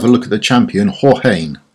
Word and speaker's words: Jorge: So, we're going to have a look at the champion, Jorge. I believe that's how it's pronounced. I think it's a Spanish name. Most people, however, will call him George, and he is the new Epic Defender that's coming out.